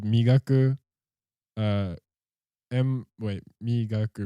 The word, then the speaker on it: Migaku: lot of good stuff uh is his name mikaku yeah yeah so there's a a company just started uh called migaku em wait me gaku right m-i-g-a-k-u is how